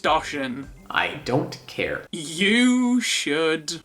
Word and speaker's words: Doshin: It's pronounced Doshin.